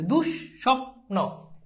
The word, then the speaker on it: দুঃস্বপ্ন: দ্বিত মানে হচ্ছে দুইবার যেমন দেখ দুঃস্বপ্ন এইযে দেখ এইযে দেখ এইযে স এইযে দেখ এই স দেখ এইযে এখানে কি বিসর্গ আছে এজন্য দেখে স দুইবার হইছে দুষ স্বপ্ন হ জফলা যদি থাকে হ